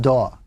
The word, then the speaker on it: DAW: software known as a digital audio workstation or da W often pronounced da the DAW in its